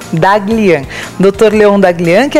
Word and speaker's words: Daghlian: Leon como é que se pronuncia teu sobrenome, doutor? Daglian. Daglian.